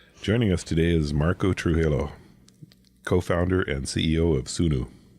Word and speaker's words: Trujillo: It says Trujillo.